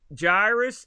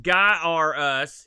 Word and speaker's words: Gyruss: the boat he writes jairus it's pronounced guy r us he says which i disagree it's probably the best arcade conversion on the atari twitch 600.